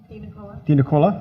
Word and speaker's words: DiNicola: Natalie DiNicola, am I pronouncing that correctly? Sitting across? DiNicola, okay.